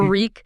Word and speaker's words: Reek: Being Reek, the fear, the rhymes, reek, it rhymes with sneak, the pleading.